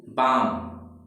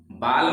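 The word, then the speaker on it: balm: काम मीन्स क्या होता है, शांत, इसे देखिए बाम, बाल में नहीं है ये, बाम पढ़ेंगे, बाल में यल नहीं पढ़ेंगे।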